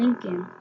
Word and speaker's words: Lincoln: the real amber ham Lincoln Miss Daisy adds after him just there Mac he loves with his hat and beard Lincoln rhymes with stinkin true Abraham Lincoln's face